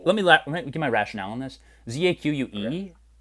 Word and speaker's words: Zach: It's Zach. If you almost know what I'm saying, it's Zach. Zach. But I'm a big like pronunciation grammar guy. You got to get it all right, and this inspires that. It pushes America forward. You got to be able to pronounce the. It's in the back of the throat here, right here in this area.